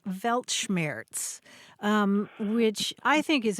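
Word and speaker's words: Weltschmerz: But the word was welmers, I think, is how you would say it. Yeah. Yeah. You're talking about the word Velmers.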